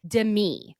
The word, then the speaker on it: Demi: I pronounced her name Demi, like Demi Lovado. Apparently, you're supposed to say it like Dei, like Demetria. So huge.